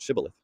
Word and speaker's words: shibboleth: come across, they would ask them to pronounce the word shibboleth. Now, this is because the people that they were trying to, attack could not pronounce the sh sound. So they would say it's sibboleth.